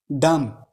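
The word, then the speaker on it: dumb: डम। यहाँ B silent है, बी नहीं पढ़ना।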